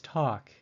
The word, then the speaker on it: talk: with two little dots the fourth word is talk it is the vowel a but its pronunciation is different it sounds like a short o or a the fifth word is